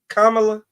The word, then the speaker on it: Kamala: about even Kam Kamala Kamala how do you pronounce it Kamala like say Kama like like the the punctuation mark Kamala okay Kamala no sweat Kam that helps probably